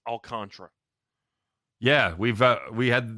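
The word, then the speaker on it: Alcantara: go through by the way memorabilia it is pronounced alcantra yeah we've uh we had we looked it UPC alcra this has been a deal it was pronounced alcanta for the first two two Seasons By Us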